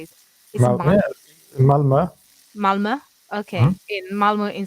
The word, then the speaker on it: Malmö: Is that right pronunciation, by the way? I never know how to say it. Is it Yeah, Malmö.